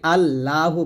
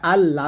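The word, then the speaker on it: اللهُ: এখানে প্রথম ভোল্টে করি আল্লাহু বলি এটা আল্লাহ বলবেন না যদি বাংলা আল্লাহ লেখা আছে তবে আরবি উচ্চারণ করতে হবে আল্লাহু এ হা পেশ এখানে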